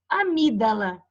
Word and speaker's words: amígdala: Por exemplo, homem, que eu não pronuncio, amígdala, que eu não pronuncio esse G.